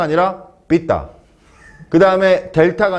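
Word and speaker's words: delta: 그다음에 델타가 아니라 딜타.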